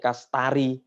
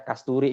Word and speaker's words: Kasturi: Kalau Bu Nini di ini bacanya Bu Nini Kastari. Tapi kalau saya bacanya Kasturi.